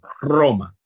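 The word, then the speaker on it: Ῥώμη: espíritu verdad lleva espíritus solamente va a llevar espíritu rudo cuando esté indicando que debe sonar fuerte Como por ejemplo en Roma verdad que se escribe Rome Entonces si no está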